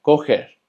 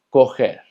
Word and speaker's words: correr: Ahora, sabiendo las reglas de pronunciación de la letra R, ¿cómo se pronunciaría esta palabra? Así es, se pronuncia coger, coger.